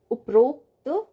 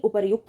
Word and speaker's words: उपर्युक्त: उपरोक्त, उपरोक्त नहीं उपर्युक्त होता है, इसका सही उच्चारण उपर्युक्त लिखते हैं हम।